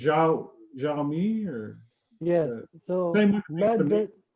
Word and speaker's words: Xiaomi: So the name is Xiaomi. Xiaomi. Yeah, it's kind of like tricky to pronounce and tricky to spell.